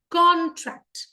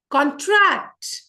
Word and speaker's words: contract: And here, जो पहला है CON, इसको हमने स्ट्रेस किया है. कॉन्ट्रैक्ट. अब ध्यान से सुनना. कॉन्ट्रैक्ट, this is a verb. इसका मतलब कम हो जाना, कॉन्ट्रैक्ट हो जाना. कॉन्ट्रैक्ट इज a verb.